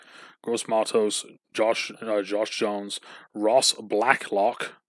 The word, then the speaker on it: Blacklock: Ross, Is it Blaylock or Blackhawk? Which one? Blackhawk down. Ross Blacklock, D tackle TCU. Oh, it's Blacklock.